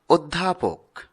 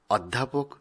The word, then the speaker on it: অধ্যাপক: পরেরটি সঠিক উচ্চারণ হবে অধ্যাপক, অধ্যাপক নয়।